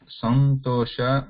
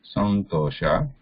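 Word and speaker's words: सन्तोष: If we bring, then we write it like this and pronounce it like this, like santosha. So this is santosha. So we can hear that na there, santosha. We can bring. If you do not bring, we can just leave it as anuswara. Then it is pronounced as santosha, santosha.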